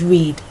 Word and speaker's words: read: like the color muscle like the color red is pronounced read so infinitive simple form